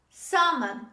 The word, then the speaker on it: salmon: salmon say with me salmon so let the l is dropped when you say this